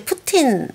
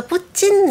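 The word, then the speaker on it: Путин: 입에 익어 갖고 그래서 러시아 원어 그대로 하면 진인데요 우리나라로 하면 이제 푸틴 이렇게 되는 거죠 러시아는 그럼 트티 발음을 잘 안 합니까 그게 국의 음마가 돼요 그래서 푸진 이렇게 됩니다 아 그렇게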